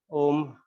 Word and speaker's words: Om: Basically, we'll chant Om, all the 3 syllables, U and Ma. So make sure you just change your lips. First, open them, then round shape for U, and then for Ma, close it, close it.